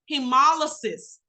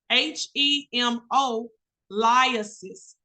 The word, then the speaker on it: hemolysis: The third H word is pronounced hemolysis, H-E-M-O, lysis, hemolysis, okay?